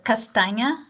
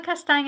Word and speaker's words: Castanha: I'm the first one on that list, Castanha. Now it rhymes with lasagna, and it's making me hungry, and I haven't even had lunch yet. So, Castanha, I'm the Associate Director of Scholarships.